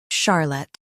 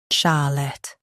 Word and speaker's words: Charlotte: In US, stress char. In UK, stress sha. Charlotte, Charlotte.